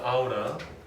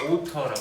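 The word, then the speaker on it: ought to: 이제 미국식 그 발음으로는 아우라. 그리고 영국식을 오터라고 합니다. 오터.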